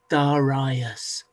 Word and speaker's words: Darius: looks like it's spelled Darius but it's actually pronounced daras daras he was so powerful dasas that he he